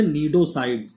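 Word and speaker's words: cnidocyte: नींद साइड इसको बोलते नीडो साइड है ए नीड टो मस्ती साइलेंट होता है नीड टो साइट ए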